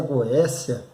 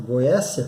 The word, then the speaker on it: Goétia: ele teve acesso à Goécia. Se escreve Goétia, com TH.